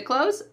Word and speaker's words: clothes: In American English, when we're speaking quickly, that th is really cut out completely. It sounds exactly like close the door.